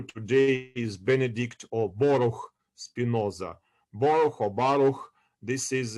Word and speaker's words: Spinoza: So Spinoza in Portuguese, or in also in Spanish, it's pronounced Espinoza also, and it's comes from the word thorn, thorns in plural, thorn.